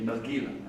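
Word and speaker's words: נרגילה: A nargila, as we call it. Because it rhymes with have a nagila, okay?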